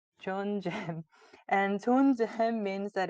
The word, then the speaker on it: 존잼: So if you were to pronounce it, it would be like 존잼, 존잼.